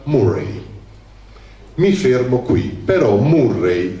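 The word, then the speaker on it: Moray: Che in Scozia la contea più grande si chiamava Morai, uguale come in Perù, però si pronuncia Murray.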